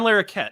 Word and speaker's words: Larroquette: He plays John LaRoque. John LaRoque. He plays the prosecutor in that. Oh, John Larroquette.